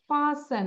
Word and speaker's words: fasten: ফাসেন, এই যে টি উচ্চারণ করবো না, FASTEN, ফাসেন, টিটা সাইলেন্ট থাকবে।